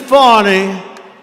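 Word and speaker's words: Fani: fonny fonny you know fonnie spelled f a n i my name is fny f a n i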